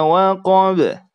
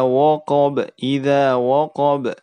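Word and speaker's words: وقب: Jangan sampai huruf waw itu terpengaruh oleh huruf qaf yang tebal sehingga kita baca tebal juga. Idza waqab ya.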